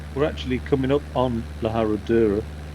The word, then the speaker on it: La Herradura: I spent ages calling it La Herradura basically, and it still takes me a long time to pronounce the name of this place so properly. La Herradura.